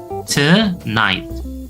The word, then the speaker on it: tonight: Yang pertama adalah ketika kita ketemu kombinasi G dan H. Y dan H. Kalau kita bertemu dengan kombinasi huruf tersebut di tengah kata itu suaranya hilang ya. Jadi anggap tidak ada suara G dan H-nya.